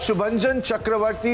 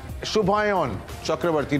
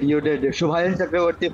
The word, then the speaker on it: Shubhayan Chakravarti: And we've got Shubhanjan Chakravarti, who's also Shubhayan Chakravarti. Did I get your pronunciation right, brother? Yes, you did. Shubhayan Chakravarti from Rev Sports.